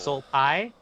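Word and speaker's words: Sol Pais: It's SOL. So like Soul. Soul Pie, PAIS.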